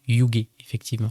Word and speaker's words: YUGE: Ça se prononce Yugement.